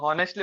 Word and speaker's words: honestly: word yes honestly it's honestly it's just silent yeah honestly yes but